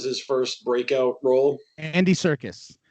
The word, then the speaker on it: Serkis: Andy Serkis. Circus. Yeah, Serkis.